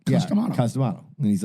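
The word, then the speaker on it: Cus D'Amato: He goes, I always thought his name was, he's dead serious, Custom Auto.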